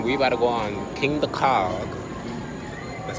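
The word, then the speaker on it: Kingda Ka: just finished eating we about to go on king the cog that's how you say it but last time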